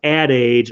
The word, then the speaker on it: Ad Age: of well it's called probably pronounced Ad Age although it's spelled adage and you can see